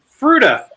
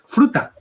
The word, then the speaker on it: frutta: next word is the and it's a fruita you put the i in there like fruit uh but it's frutta it says okay is